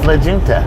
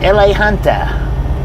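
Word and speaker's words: La Junta: I thought it was Legenta. She pronounced that way different.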